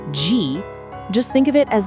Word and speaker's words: ji: It's pronounced ji.